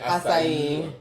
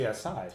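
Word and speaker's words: açaí: I mean, that's how I like to pronounce it, so I don't know. Is that how you pronounce it? Acai. Well, I say Asai. Asai. So, you know. I hear people say it like that, though. When I go to Starbucks, I say Asai, and they already know what I mean.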